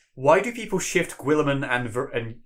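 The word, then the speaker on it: Guilliman: who has said, "Why do people shift Gwilliman and how do you say his name? Gwilliman? I say Gilliman.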